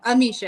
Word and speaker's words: Amicia: My name is Amisha. Oh, Nisha. How you spell it? Amisha. It's Amicia, like Alicia, but Amisha.